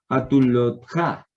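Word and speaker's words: חתולתך: Cuando tenemos este Kamets, entonces, y sigue una Sheva, entonces este Kamets sonará como O. Entonces, mejorando la pronunciación, muy bien, gracias por la corrección. Hatulotja, Hatulotja, ¿cierto?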